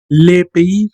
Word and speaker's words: le pays: Bueno, se escribe así como pie, mucha de la gente dice así precisamente como pie, pero no. Yo les sugiero pronunciar esto como pays, así mero, como pays. Le pays, recuerden que la S no suena, le pays.